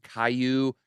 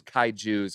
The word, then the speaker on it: kaiju: for saying it wrong i think it's kaiju's k-a-i like kai then j-u so i thought it was like caillou like the avatar guy but kaiju yes i have a few